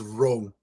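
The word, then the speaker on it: Roh: Uh, but my character's name is Row. Can you spell that for me? R O H. So, like I row a boat. Yeah. Yeah. You pronounce it as I row a boat.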